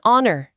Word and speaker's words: honor: 다음은 it's it's an honor actually. 자, 사실은 영광이에요. 여기서 잠깐 honor.이 단어도 좀 같이 볼까요? 이게 명 또는 영광이라는 뜻인데 이것도 발음이 조금 까다로울 수 있어요. H가 묵음이거든요.